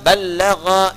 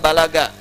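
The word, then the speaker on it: بلّغ: Kalau disebutkan mubaligh ini nomor satu dari kata ballagha yuballighu. Ya, ballag dibacanya bukan bahasa Sunda balaga ya.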